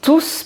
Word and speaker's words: tous: comme par exemple tous ils sont tous partis en vacances par exemple là on prononce le S voilà j'espère que cette